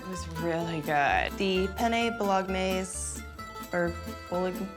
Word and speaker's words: bolognese: The penet bolognese or bolog How do you say that? Hey, it has parmesani. Woohoo! Bologanese. The G is silent.